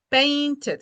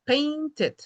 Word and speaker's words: painted: Ok, dos sílabas, ¿cuáles serían? Painted, ¿verdad? Painted. Wanted.